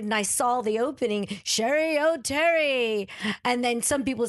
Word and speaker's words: Cheri Oteri: And he goes, I would like to know, how would you like me to pronounce your name? And to me, I didn't think that there was any other pronunciation than Cheri Oteri. And I go, whatever you think is best. And he goes, I like the rhyme. It rolls off the tongue.